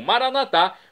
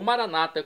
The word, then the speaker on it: Maranatá: E agora eu clamo Maranatá, como dizemos nós católicos, ou Maranata, como dizem nossos irmãos separados, os evangélicos ou protestantes. Não importa, a pronúncia e o significado é o mesmo.